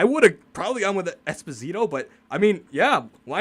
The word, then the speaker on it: Esposito: Oh, Phil Esposito. That's how you actually pronounce his name.